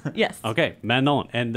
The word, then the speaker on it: Manon: called Mano Mano man not man spell it's spelled like man and yogurt yeah Manon yes okay Manon and it's a m is that M Mano